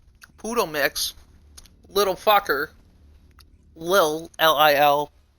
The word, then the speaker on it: Lil: Lil, L-I-L. If you call him Little, you're getting his name wrong. It's Lil.